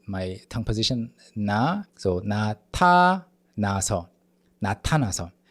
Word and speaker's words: 나타나서: And then the Korean nian, even though it's romanized with the alphabet N, even though it's like romanized in that way, it's different. You have to put your tongue between your upper and lower teeth, like na.